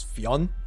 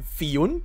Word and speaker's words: Fionn: right now, which is Fionn, just pronounced very kind of fast, I guess. However, I also found out that it's pronounced Fionn and Fun, depending on which region you pick.